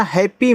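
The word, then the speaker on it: happy: पा है तो देखो हर जगह एक ही वर्ड डबल बार आ जाए तो उनका उच्चारण एक बार होता है लेकिन याद रखना हैप्पी में आधा प और पूरा प के रूप में होता है और पी के बाद वाई आ जाए तो इसको पी पढ़ते हैं यानी कि बड़ी ई की मात्रा लगा देंगे जैसे आर के बाद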